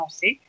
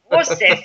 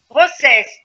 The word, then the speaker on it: Roces: très bien interprété par Martin Rosset. C'est. Rossès. Ah, c'est non. Et pourtant, vous venez du Sud, hein, alors vous devriez le savoir. Rossès. Eh bien oui, mais des fois, on n'ose pas prononcer le S ou c'est le contraire. Voilà. Si, je suis espagnol, on va le faire à fond.